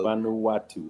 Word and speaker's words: Vanuatu: the people of they also have afro now Vanuatu that's how you pronounce it uhuh you don't have the same